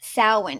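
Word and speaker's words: Samhain: 2,000 years ago um and they called it saan if you look at the spelling of the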